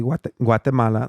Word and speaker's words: Guatemala: I can say it correctly. Guatemala.